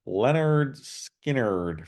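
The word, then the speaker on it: Lynyrd Skynyrd: in sexiness from uh Marvin there number 11 pronounced Leonard skinnard from Leonard skinnard and Freebird Simple Man Tuesday's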